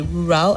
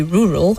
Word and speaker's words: rural: And the words rural and medical, the last syllables both have a weak sound. So you don't say rural and you don't say medical. You say rural and medical.